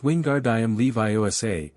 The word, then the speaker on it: Wingardium Leviosa: It's Wingard Levi. Make the gar nice and long.